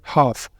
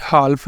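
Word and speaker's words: half: पहली एग्जांपल क्या है हाफ ये हाल्फ नहीं बोलेंगे हाफ एल यहां पर क्या रहेगा साइलेंट क्योंकि एल क्या आ रहा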